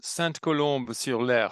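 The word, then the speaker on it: Sainte-Colombe-sur-Loire: David lives in Saint-Colombe-sur-Loire, which I believe is in the south of France, close to the Spanish border. Am I right in that? Yes, Saint-Colombe-sur-Loire, if you're using the French pronunciation.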